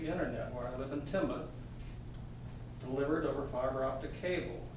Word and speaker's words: Tinmouth: live in Tinmouth, Vermont, spelled Tinmouth, but pronounced Tinmouth. So if you ever come up, don't offend people calling it Tinmouth.